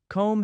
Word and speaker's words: comb: Comb has that silent B, but bomb has a clear B sound.